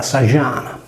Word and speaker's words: Sa Jana: che finiva per vocale, il suono declassava da affricato alveolare sonoro, di z, affricativo palatare sonoro, j, per cui Sadiana diveniva Sagiana.